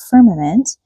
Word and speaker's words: firmament: Now, we hear this word in verse eight, firmament. We'll find out later what it actually is, but let's just learn how to say it. Right? It's got three syllables. Firm-a-ment. Firmament.